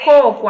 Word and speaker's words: coco: mudou de lugar né na palavra coco as a sílaba tônica Inicial na palavra cocô a